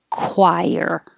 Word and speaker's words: choir: the r yawn choir the same ch that sounds like a k because it's from the greek and we kept that spelling choir frown this is like